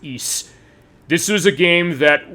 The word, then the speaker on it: Ys: It says Wise, but it's pronounced Ys.